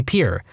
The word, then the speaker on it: Pierre: South Dakota Pier wrong she kept saying Pierre two syllables like the French name and he said it was Pier one syllable like what you fish off of he